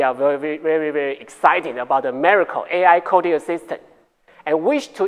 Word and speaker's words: Miraico: Regarding our solution for more efficient operations and procedures in hospitals, let me introduce Miraico ( pronounce miracle), the ICD-10 AI Coding Assistant to you.